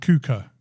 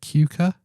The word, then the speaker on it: Kuka: to say Kuka I'm I'm saying Kuka like I'm uh speaking German how else would you say it Cuca um it's k-u-k-a Cuca kaka kaka let us